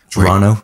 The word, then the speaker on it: Toronto: It's like, "No, a Canadian doesn't pronounce the T."